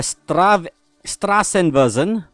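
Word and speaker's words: Straßenversion: We have the Strassenversion. That's a mouthful to say. And someone did tell me the B looking letter there is supposed to be pronounced as a double S.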